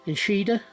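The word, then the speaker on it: echidna: is e c h i n d a inshida this 1997 coin has a mintage of 100 million 680 000.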